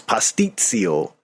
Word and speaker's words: pasticcio: I think I pronounced it wrong the first time, but it's pasticcio.